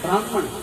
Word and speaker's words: ब्राह्मण: हाँ, एक शब्द है पंजाब में ब्राह्मण, अर्थात उसको जब हम साहित्यिक दृष्टि से पढ़ते हैं उसका अर्थ सही उच्चारण है ब्राह्मण, है ना।